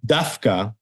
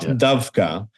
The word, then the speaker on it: דווקא: and we also dka pronounce it the way they pronounce it in Yiddish we say dka and not dka it's written it's it's